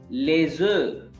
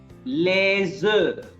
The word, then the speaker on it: les œufs: But when we are talking about more than one egg, then in that case F is not pronounced.